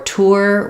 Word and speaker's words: tour: Tour Tournament um for tour we can or for tournament we can also use ER tournament for tour you really want to keep that o and notice as I